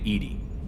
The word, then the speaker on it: EDI: have a specific inquiry why are you named Edy Ed is the phonetic pronunciation of e d that is an acronym